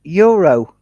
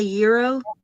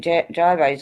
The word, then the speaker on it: gyro: It's pronounced euro. Good lord, people. Well, some people that actually make it, they'll say euro. Call it gyros over here.